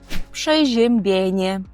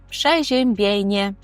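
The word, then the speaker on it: przeziębienie: походить від слова простудитися тобто польською ми скажемо пшежембене пшежембене повторюйте за мною пшежембене це простуда якщо ми хочемо сказати про симптоми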